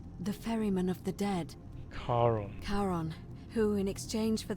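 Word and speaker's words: Charon: it's just as you described it only your pronunciation is a little off the name you heard wasn't Karen it was c h a r o n as in Caron the ferryman of the Dead karon karon who in exchange for the right coin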